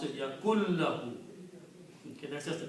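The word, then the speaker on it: يكن له: And when you pronounce your lam, you don't pronounce the noon. You say the lam is pronounced yakun lahu.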